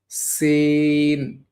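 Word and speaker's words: سين: কিভাবে পড়তে হবে? সিন, সিন, সিন, সিন। এটা আওয়াজটা কিভাবে হবে? ইংরেজিতে যে সি আছে, সি এর লেটারের মতো এটার উচ্চারণ হবে এবং অবশ্যই ইংরেজিতে যেমন সিন উচ্চারণ হয়, সিন এটার মতো হবে আরকি।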